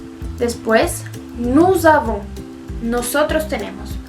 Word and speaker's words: nous avons: En ese caso, la S sí se pronuncia y se junta con la A de la siguiente palabra.